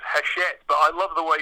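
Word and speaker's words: Hachette: a a comp a competitor I noted that hatchet part worker do have looked at doing it's actually pronounced haset but I love the way you pronounce it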